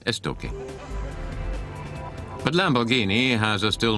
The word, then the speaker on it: Estoque: And Estoque, written Estoc with a Q, but pronounced Estoque.